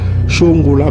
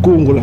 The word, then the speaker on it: Kongola: On dit Chongola, mais c'est Kongola. Prononciation Bat Kongola, Kongola, Kongola. Voilà.